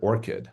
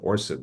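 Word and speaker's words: ORCID: And I see we have, I guess they pronounced it orchid. I was calling it orchid when I first saw it, but yeah, the persistent identifiers is a really important part of this whole process.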